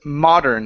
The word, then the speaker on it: modern: okay the word is modern instead of modern modern modern okay and instead of M modern okay M okay so you're adding an extra vowel in between the r and the N you're saying M okay